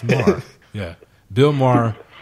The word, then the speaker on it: Maher: Yeah, I always like to add syllables to his last name. Like, is that Mayer? Meyer? Maher? But it's just Maher.